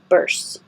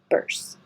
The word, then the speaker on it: bursts: pronounced but I think most Americans would just shorten it to make bursts with an ER sound burst bursts this word you can